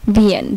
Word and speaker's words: Wien: আচ্ছা, তারপর হচ্ছে আইই, যদি কোনো ওয়ার্ডে আইই একসাথে থাকে তাহলে এটার উচ্চারণ হবে দীর্ঘের মতো, যেমন ভিএন, WIEN।